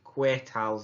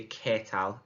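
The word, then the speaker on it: qué tal: means how are you just be careful with the pronunciation of that i did hear quite a few queer tiles last week needs to be ketal as if you're saying the capital letter k catal muy bien muy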